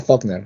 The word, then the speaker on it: Faulkner: Claro, dice Faulkner, ya, pero se pronuncia Faulkner, ¿ya?